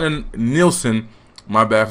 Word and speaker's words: Nielsen: Like, nigga, you're not in Nielsen.